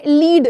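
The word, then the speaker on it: lead: ले लीड लीड बोलते हो ना आप लेकिन लिखते हो एल इ ए डी तो ए को प्रोनाउंस ही नहीं करते हो आप।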